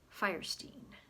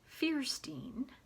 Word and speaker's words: Fierstein: says his father whose name it was originally pronounced it firestein um so that's the pronunciation that harvey goes by but he says his brother planted his own flag of independence calling himself fierstein and their mother for reasons known only to